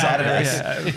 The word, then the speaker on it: Adidas: Well, it's only Americans say Adidas. It really is Adidas.